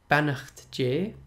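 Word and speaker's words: Beannacht Dé: Beannacht J.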